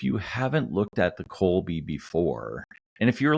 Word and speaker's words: Kolbe: be a six-part series on the kby system that's spelled k o lbe and if you haven't looked at the Colby before and if you're like me and love